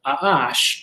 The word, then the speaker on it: A'ash: And one of the things we would find in 777, if we did that, is a word spelled Ayin Shin, which would be pronounced A'ash, and it means creation.